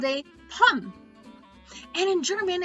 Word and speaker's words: pomme: Apple in French is pronounced pomme.